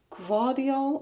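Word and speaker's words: Gvardiol: Guardiol. It's like a slight V. Guardiol.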